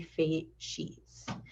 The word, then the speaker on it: facies: to this concept of sedimentary fa sheets as it's pronounced so a facies or